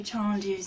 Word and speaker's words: tendu: Now our next exercise, we know we do tendus next. So this is the French spelling. Tendu. Almost how it sounds, but they pronounce the E's differently.